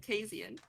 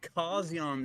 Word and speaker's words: Casian: He Like- pronounced his own name Kasian. We've been saying Kazian this whole time.